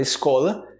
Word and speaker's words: escola: eu tô na escola escola com i não é com R no começo mais sua como se fosse com ou também tem um sotaque mais puxado o carioca escola escola essa já